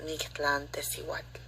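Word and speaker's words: Mictlantecuhtli: Bro, it's pronounced Mictlantecutli. That's how it's pronounced.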